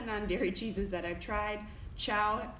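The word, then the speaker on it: Chao: But I will tell you, as far as all the non-dairy cheeses that I've tried, Chow, I think that's how you say it, Chow, is my favorite, and it's spelled C-H-A-O.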